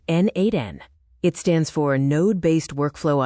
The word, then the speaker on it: n8n: Pronounced N8N.